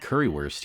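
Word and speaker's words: Currywurst: saying it wrong cuz don't you pronounce the W like a V like baguette bread and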